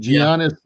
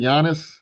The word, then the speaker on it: Giannis: And I think Giannis Antetokounmpo.